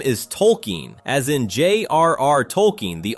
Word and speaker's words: Tolkien: Everyone except Stan Marsh and Randy Marsh, who have been calling him Token for 25 years because they simply heard the name wrong and never corrected themselves.